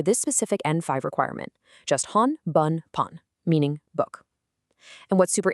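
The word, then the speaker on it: 本: You only need to remember the onyomi variations provided here. Hon bun pun. There's absolutely no separate kunomi to memorize for this specific N5 requirement. Just hon meaning book.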